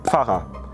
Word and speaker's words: Pfarrer: We often swallow the "f". Like in the word Pfarrer (priest). So we say "Parre" rather than Pfarrer.